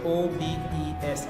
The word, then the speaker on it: obese: too much so obes see E and E are separated by the letter S and yet they still making their e sound okay so o b e s e is pronounced obes you have g e